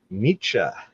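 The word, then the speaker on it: Nietzsche: This time it is Friedrich Nichze and I just learned the pronunciation correctly for that but I have loved a lot of his quotes in the past.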